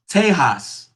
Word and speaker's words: Tejas: Uh, Back in the day, before colonization happened, Texas was actually pronounced Tejas.